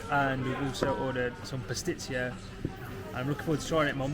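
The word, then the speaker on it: παστίτσιο: Pastitsio.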